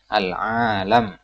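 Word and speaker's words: عالم: Makkah dan Madinah Thai Perhatikan cara bacanya alam-alam tuh panjang bukan al-alim al-alim orang berilmu alami inilah bentuk mufron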